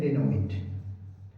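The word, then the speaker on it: denouement: और अगर happy ending की बात करें तो हैप्पी एंडिंग को क्या बोलते हैं, हैप्पी एंडिंग को बोलते हैं डेनोमेंट, स्पेलिंग चेक कर लेंगे, DENOUMENT, डेनोमेंट, हैप्पी एंडिंग, कॉमेडी।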